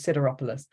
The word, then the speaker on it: Sideropoulos: So I had SID, so that's Sid. Okay, Sida. Okay, could be cider, but those combinations tend to be Sida because I know words like consider. And then I know that OP is op, and then pool is quite a common pronunciation. So I can, and then I can put them together as Sideropoulos.